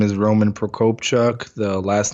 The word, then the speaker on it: Prokopchuk: digital marketing agency my full name is Roman Procope Chuck the last name is a little intimidating but you say how it's pronounced so anywhere in social I work directly